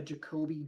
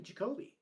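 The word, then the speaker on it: Jacoby: The the commanders have a Jacobe Jones on their roster. Kobe Jones, like the old uh It's spelled the exact same.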